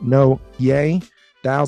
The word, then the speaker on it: Noye Dials: living in Fort Wayne my name is noye dials that's pronounced no yay dials I'm a local real